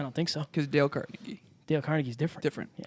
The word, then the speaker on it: Carnegie: It's Carnegie. No, it's Carnegie. Really? Yeah. Oh. You're thinking of Carnegie Hall.